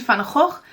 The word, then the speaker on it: van Gogh: and I learned that you say his name Vincent van Gogh, not Vincent van Gogh.